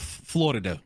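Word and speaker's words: Флорида: For example, the state of Florida, right? Yeah. In Russian, we say Florida. So the stress moves to the second syllable.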